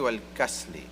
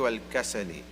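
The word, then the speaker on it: والكسل: I was saying wal-ajzi wal-kasli, but it's actually wal-ajzi wal-kasali.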